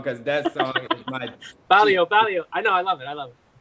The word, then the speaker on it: barrio: Barrio. I've been saying it wrong the whole time. All those tags. Barrio. Barrio? Yeah, like Mario. Mario. Oh, like Mario.